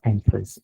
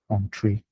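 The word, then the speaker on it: Entrez: So it's not Entree. This Entree is like a French word, and they call it on, like just on. So it's pronounced Entree.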